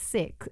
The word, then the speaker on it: Sikh: united seats or but i must stress it's pronounced sick but we say seat